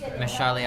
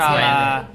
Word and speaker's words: Mahershala: Mashali Ali. I can't pronounce it. I can't pronounce I'm it gonna either. have a go. He's very hot. That's Mahershala the Ali.